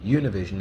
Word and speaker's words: Univision: The two big stations, the two big networks, I should say, are Univision, or Univision as we might pronounce it, and Telemundo, which Mundo is world, right?